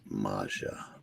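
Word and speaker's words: Maggia: just want Maxfield and it's pronounced Maja we prefer it that way but that's special vaccine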